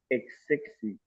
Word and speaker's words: excessive: So since we are not stressing the e now, what sound should the e make? Is it a or e?